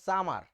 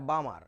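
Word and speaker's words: Balmer: ক্লাসে এরকম লেখার পরে একটা স্টুডেন্ট পড়তেছিল সামার এটা সামার না বাবা এটা বামার এটা বোয়ার চাওয়া দেখতে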